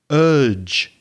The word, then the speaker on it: urge: you meant was i urge you i encourage urge is spelt u r g e and the j sound at the end is similar pronunciation of judge or june or january or july so urge